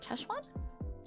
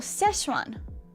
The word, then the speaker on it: Sichuan: Yeah, like cheshwan.